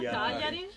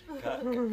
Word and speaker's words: Cagliari: Is it good pronunciation? Yeah, Cagliari. Cagliari.